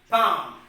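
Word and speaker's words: palm: p a l m bomb so here l is becoming silent because as per the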